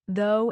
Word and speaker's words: though: Though has that O sound like in go, but through has the oo sound, like in food.